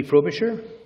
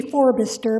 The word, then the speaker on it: Forbister: Frobisher. Good afternoon, Mayor Rattan and Council. My name is actually Forbister, but don't feel bad, it gets mispronounced all the time.